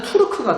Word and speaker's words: 돌궐: 이 돌궐은 원래대로 발음으로 하자면은 투르크가 되고요.